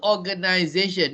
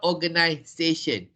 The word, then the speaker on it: organization: but the british s-a-t-i-o-n but the pronunciation is the pronunciation is a z sound so even if you spell it as uh you spell organization with an s-a-t-i-n it is still organization not organization so don't say authorize